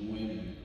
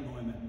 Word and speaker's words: Newman: It should be Neumann. Right. Well, if we're a German speaker or we're in Bohemia or the Czech Republic, it would be more like Neumann, but my mouth doesn't